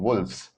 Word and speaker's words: wolves: When I'm saying wolves, I'm pronouncing the V. I'm not pronouncing wolves. I'm not pronouncing the F. I'm not putting an emphasis on the F. I'm putting an emphasis on the V.